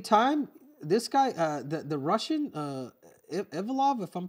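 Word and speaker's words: Evloev: But at the same time, this guy, the Russian, Ivlov, if I'm pronouncing it right, Ivloev, yeah, Ivloev, Davai, he's Movzar.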